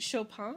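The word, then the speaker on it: Chopin: Next up, another really interesting author, a woman named Kate Shopan. I think her last name should be pronounced the French way. Shopan. She was from Louisiana, so would have had that French Creole French.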